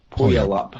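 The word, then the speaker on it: Puyallup: It was a uh how do you spell it? Was like P U Y A L L U P Washington. Pull up Washington. Pull up.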